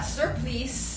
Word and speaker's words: surplice: ZAFUL ribbed high cut surplice.